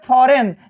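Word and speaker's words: foreign: जैसे फॉरेन, जैसे फॉरेन लिखा है तो यहाँ यन से पहले आया है जी, तो जी साइलेंट है।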